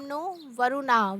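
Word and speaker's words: no Varuna: Indian navy contains the motto some नो वरुणा pronounce इसको बोलेंगे नो वरुणा वच means B ऑस्पी शियस टू अस ओ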